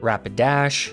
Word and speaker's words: Rapidash: into norman okay rapidash rapidash is a trash pokemon rapid dash rhymes with trash it is trash i